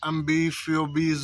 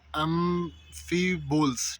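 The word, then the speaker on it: amphiboles: फिर माइका होता है, फिर एम्बीफियोबीज होते हैं, ठीक है, और भी बहुत सारे मिनरल्स होते हैं। सॉरी, मैं ये प्रोनाउंस करना जो है मतलब जो एक वर्ड है एम्फीबोल्स, ठीक है, एम्फीबोल्स होता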